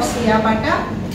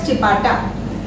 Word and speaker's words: ciabatta: The first product is going to be a bread which is called the chapata or siapata. It's pronounced as chapata.